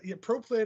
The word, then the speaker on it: proplyd: It's proplyd. If I remember correctly, it's spelled PROLYD, proplyd, and I'm not quite sure